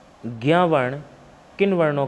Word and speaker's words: ज्ञ: उच्चारण के आधार पर पूछे तो ग और या से बनेगा, और ऐसे पूछे नॉर्मली तो किससे बनता है?